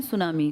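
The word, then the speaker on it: tsunami: कर रहा हूं ना सुनामी जापानी भाषा का शब्द है जिसमें टी साइलेंट लिखते हैं ऐसे बोलते लिखते हैं टी सुनामी बोलते हैं सुनामी।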